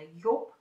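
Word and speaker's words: Joop: Это бренд, читается он действительно Йоп.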